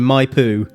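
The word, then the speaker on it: Maipú: back to Mendoza following a business meeting in my poo that's spelled m a i pu U for our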